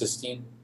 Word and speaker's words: cysteine: It's pronounced cis. Cysteine. Cysteine. Cysteine. Cysteine. That is, you have to pronounce the E separately from the ine.